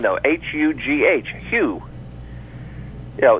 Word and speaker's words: Hugh: the first name though h u g h Hugh you know the H is there but you're not actually saying it as much as you are in the word huge there may be something